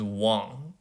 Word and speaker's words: Wang: You spell it Wang. Please don't call me Mr. Wang. My name is Wang, okay?